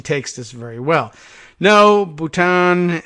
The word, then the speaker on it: Bhutan: this very well no Bhutan independent Kingdom not part of India not pronounced button nipple and button this